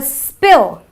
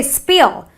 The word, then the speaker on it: spill: it's not a kill I have a spill I don't say spill it's a short sound an i sound to